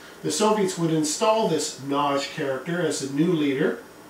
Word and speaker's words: Nagy: by the name of Nagy. Now, it looks like it's pronounced Nagy, but I had a Hungarian woman recently tell me that no, it's pronounced Nagy.